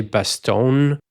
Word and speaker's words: Bastogne: at a town called Bastogne which is how it's pronounced in French. I'm not 100% sure how it's usually pronounced in English. I think I've heard some people say Bastone, but in my head